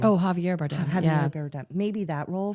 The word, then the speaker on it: Javier Bardem: Maybe the role that is it Jeremy Bardem? How do you say his name? Oh, Javier Bardem.